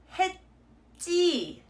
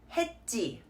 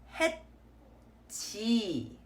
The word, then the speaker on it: 했지: So this word is pronounced as 했지, 했지, not 했지.